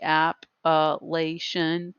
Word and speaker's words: Appalachian: we have the appellation with the pronunciation key app elation plateau the blue ridge